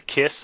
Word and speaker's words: Qys: we see the aliens, they're the KISS, I think is how it's pronounced, QYS. Yeah.